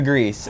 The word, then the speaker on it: Griss: Like all those dudes, the Grease, that's the alien's name, and it's spelled Griss, just in case anybody's like the Grease, like John Travolta. No, it's the Grease.